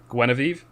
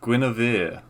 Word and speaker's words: Guinevere: answer and say again gueneve all right stop the clock i will give you a half a point okay what is it because it's guinevere guinevere wait is this some